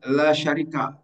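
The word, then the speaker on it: لا شريك: La syarika tidak pernah dibaca la syarik, tidak pernah dibaca la syariki.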